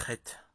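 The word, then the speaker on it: חטא: Le mot hébraïque Chet, péché, se compose en réalité de 3 lettres. Or, 2 seulement sont prononcées. La dernière est muette, c'est la lettre Aleph, qui symbolise l'unicité, l'éternel.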